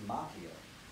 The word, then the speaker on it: Macchio: Daniel-san, played by Ralph Macchio, which is actually the Italian way pronounced Macchio, but I believe he pronounces it Macchio in all respect to his decision.